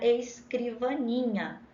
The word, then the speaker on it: escrivaninha: Eu sempre ensino para os meus alunos que quando a gente vai procurar a sílaba tônica, a gente chama a palavra escrivaninha. Então, aí a gente descobre qual é a sílaba tônica. Escrivaninha. Então, letra correta é a letra D, é o NI. Perceberam?